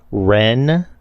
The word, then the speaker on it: Ren: say his name again Ren like Ren and Stimpy Ren ayabi yeah okay